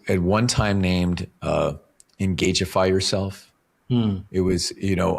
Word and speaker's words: Engageify: get a delivery or someone has to pronounce Engageify and they're like, I got a delivery for engag.